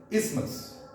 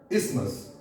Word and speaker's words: isthmus: No, this is not isthmus, this is isthmus, isthmus, TH is not pronounced.